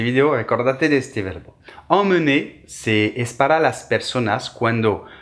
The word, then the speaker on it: emmener: Emmener, el número 1, amener, el número 2.